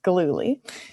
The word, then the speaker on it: Gillooly: So the next question is from Gillily. would you like to ask your question? And apologies if I've just butchered your last name. Sure, you were very close. It's Galuli.